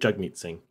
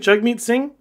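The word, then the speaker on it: Jagmeet Singh: PF J me Singh or is it jug me Singh I think chug meet sing and I apologize if that's actually how he pronounce his name I'm doing it wrong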